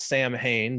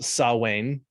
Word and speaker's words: Samhain: have uh something that looks like it should be pronounced samhain but because it's gaelic it's pronounced sawwain sawwain yeah saw wayne